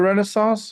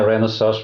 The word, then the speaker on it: Renesas: are you exclusive to Renaissance, or is this or I think I pronounced that wrong. Help me with the enunciation of Well, yeah, Renesas, Renesas, does it matter?